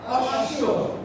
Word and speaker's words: অশ্ব: ঘোড়া কি হবে অশ্ব তার মানে এই যে শেষে আসছে বফলা এজন্য উচ্চারণটা কয়বার হলো দুইবার দুইবার হলো তাহলে কি হবে অশ্ব আরেকটা দেখি আমি বলি